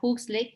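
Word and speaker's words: Huxley: estudiando la sistemática evolutiva y jucilei así más o menos lo pronuncian está bien si lo puedes si lo quieren pronunciar hooks ley o books ley es correcto es este como que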